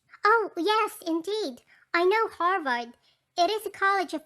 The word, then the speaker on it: Harvard: you call it yes pronouncing it arvad since the h is always silent in spanish oh yes indeed i know harvard it is a college